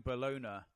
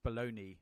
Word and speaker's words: bologna: when she sees me frying bologna however that is so I can make her a sandwich I think it's baloney but they can't spell it correctly uh you're so classy